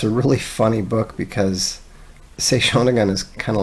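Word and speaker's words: Sei Shōnagon: Genji, and also like Sei Shoshin's, I'm getting the last name wrong, but Sei Shonagon, that's it.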